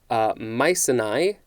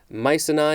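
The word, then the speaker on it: Mycenae: century a king of mice and i i will spell that momentarily and leader of the greeks in the trojan war mice and i is probably being pronounced wrong it is m y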